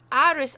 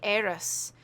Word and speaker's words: Arous: this first mm iris I was pronouncing iris until I heard them seeing the program and and in the film and they see eros very no thinking did a bit of reading and I thought that's interesting why why they pronouncing it like that why and it's it's